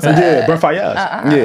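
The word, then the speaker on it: Faiyaz: Brent Fayez. I didn't know that's how you pronounce that. Yeah, Brent Fayez.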